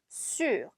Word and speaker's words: sûr: 자, 여기도 지금 ü 발음 주의해서 해주셔야 됩니다. sûr.